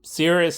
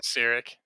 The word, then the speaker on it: Cyric: let's go back to bark really quick um Cirrus CL sorry if I mispronounce that name bark works best when you have it's uh cyric okay it's cyric um bardix well uh best